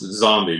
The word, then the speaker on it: XOM-B: next hardcover which is it's pronounced zombie but it's spelled xom-b um i had kind